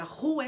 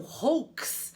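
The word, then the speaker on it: roux: com o forma o por isso que a gente vai pronunciar a rua e não hooks até porque eu também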